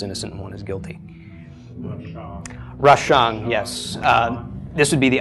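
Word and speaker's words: רשע: Yeah, no, it's rashang. Yeah, I'm pronouncing the ang of the ayin.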